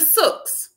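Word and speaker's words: souk: do this if you go to Dubai the sus it's spelled s o u k the sus there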